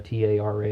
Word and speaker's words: Tara: I knew somebody named Tara, T-A-R-A, and that's how she pronounced her name. Tara the Android, Terra the Android. It's as you like.